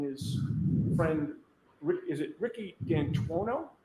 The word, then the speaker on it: D'Antuono: And when you went outside, you learned that he had come and his friend, is it Ricky D'Antuono? How do you pronounce the name? It's Ricky D'Antano. D'Antano. Ryan had come in Ricky D'Antano's gray Ford F-150 truck, correct?